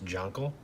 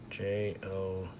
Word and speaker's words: Jonquil: This one I pronounce Jonquil, Jonqual. Okay, so that one's Jonquil.